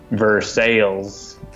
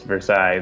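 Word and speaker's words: Versailles: Missouri or something and it's ver sales and if you pronounce it properly you know as Versa they'll freak out they look at you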